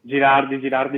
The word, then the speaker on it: Girardi: Zimoli, sì, è giusto l'accento? Girardi va benissimo.